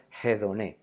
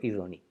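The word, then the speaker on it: ἡδονή: de la de elección que en griego es idón y o como lo pronuncian los heracnianos jedone pero yo seguiré pronunciando idone Por qué Porque es la pronunciación que hacemos los grecos o diernos los helenos o tiernos y no es que la una sea mejor que la otra simplemente que yo esté acostumbrado a la pronunciación helénica a la que a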